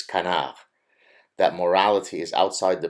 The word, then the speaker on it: canard: that oh you mispronounced canav it's Canard that's because it's a French word so the proper pronunciation is Kan that morality is outside